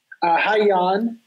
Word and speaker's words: Hyaneyoung: Hyaneyoung. It's spelled, for those looking to get it spelled, that's H-Y-A-N-E, young, as in young and old.